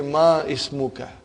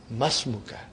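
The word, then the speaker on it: ما اسمك: ready masmukha remember hamdul it will be incorrect to say ma ismukha you should say masmuka comes in the beginning of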